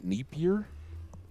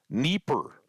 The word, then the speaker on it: Dnieper: Pronunciation. We should start there. Dnieper. Dnieper. The Dnieper River in Europe.